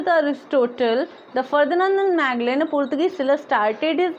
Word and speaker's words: Magellan: So around 500 years ago, Ferdinand Magellan, pronounced Magellan, a Portuguese sailor, started